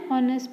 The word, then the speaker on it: honest: An honest person.